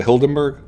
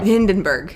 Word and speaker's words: Hindenburg: uh maybe like the what was it the hildenberg yeah yeah Hindenburg Hindenburg Michael Michael see I just misspell and mispronounce all balloon related World politics in like